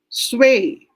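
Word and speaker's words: 岁: ui the ui nathan it's pronounced as way so just add the sound of s to way how do you pronounce that properly miss gina sway hon hao sway sway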